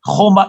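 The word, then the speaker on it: חומה: Le mot choma en hébreu, il s'écrit chet, vav, mem, he. Donc c'est un cholam, c'est un trait avec un point au-dessus.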